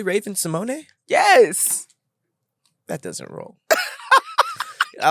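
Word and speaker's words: Raven-Symoné: you pronounce Raven Symone it's Raven Simone that's more douchey she has an accent and on the E it's really Raven Simone yes that doesn't roll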